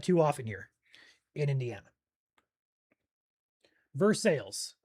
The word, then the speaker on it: Versailles: Vers sales. Okay, thank you guys. Versailles. Perfect. You guys are awesome.